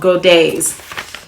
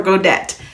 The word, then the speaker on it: godet: these little inserts called godays and i also found that it could be pronounced godet as well so goday or godet i decided i am